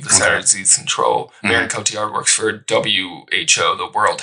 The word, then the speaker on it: Marion Cotillard: Marion Cotillard, yeah.